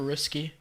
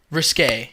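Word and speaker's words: risqué: Wait, remember when Britney Spears' music videos were risky? Risky? Risque, yeah. Oh yeah, risque.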